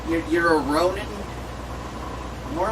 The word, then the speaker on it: Ronin: Yeah, it sounds like the word roaming. You know, like when you got your cell phone and you're roaming for a signal. So it's like you're a Ronin.